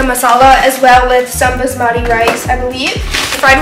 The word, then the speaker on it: basmati: butter chicken with um jasmati rice I think I'm sorry if I mispronounced anything I think it's Basmati yeah basmati rice and then we also